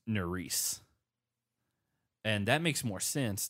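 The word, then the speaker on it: Nurys: think that Nelson's partner I thought her name was nuri's because that's how it's spelled but it's Norris and that makes more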